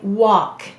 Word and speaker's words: walk: after a w now notice we have a silent l we don't say walk we say walk there's something interesting though